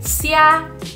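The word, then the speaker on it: 虾: udah dalam bahasa Mandarin Syiah Syiah Syiah Jadi kalau ada X dalam kinin bahasa Mandarin kita baca jadi es temen-temen jadi Kya kita bacanya jadi Syiah Syiah Syiah udang siang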